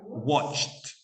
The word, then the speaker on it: watched: watched. Watched. Porque termina en un sonido consonante sordo y entonces equivale a una T.